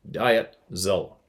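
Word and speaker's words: Dietzel: this time Dil dietel well it's D IE T diet zel zel John appreciate you man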